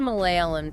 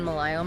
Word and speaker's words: Malayalam: Even though it looks like a palindrome, the two L's in Malayalam are actually pronounced differently. Oh, really? The first one is a standard L, Okay. but the second one is retroflex. So you make it by curling your tongue back.